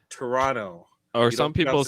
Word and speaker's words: Toronto: It's not Toronto, like TOE. It's Toronto. Or some people say. Some people call it Toronto. Toronto. They still don't pronounce the second T.